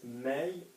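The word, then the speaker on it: mets: And that is may with an S, which I know is weird, but we don't pronounce it.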